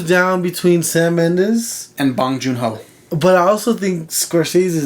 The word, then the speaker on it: Bong Joon-ho: And Parasite, Bong Joon-ho.